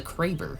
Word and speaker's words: Kraber: Alright, moving on to the Kraber, or the Crabber for people who don't know how to pronounce the gun. That is one of my pet peeves. People are like, oh, I'm gonna use the Crabber. I'm like, bro, it's not the Crabber, it's the Kraber.